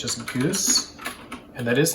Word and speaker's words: GOOS: and go it's just goose and that is how you print out go os so this is how you set the go operating system but we pronounce it goose and then we have